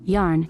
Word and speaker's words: Jan: it written as Jan until I explain it's pronounced yarn and he's a 6'7